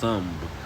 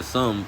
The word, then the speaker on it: Tunb: Uh I had to look that word up, but it's it's I guess it's supposed to be pronounced Tunb, like sun with a b at the end of but Island during a 90-minute wave, and that the US military is holding Iran accountable, all right?